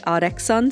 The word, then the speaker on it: ARTXSUN: But I found a real on Sunshine's Instagram where she pronounces it artexon.